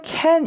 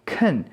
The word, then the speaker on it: can: 되는데 설명을 좀 드리자면 긍정형 이죠 은요 실제로 캔 이라기보단 큰 큰이라는 소리에 가깝게 발음이 됩니다 어 그리고 어 그것에